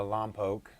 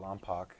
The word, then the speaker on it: Lompoc: it was up in a long poke um don't call it lompoc that's how it's spelled but uh the lompoc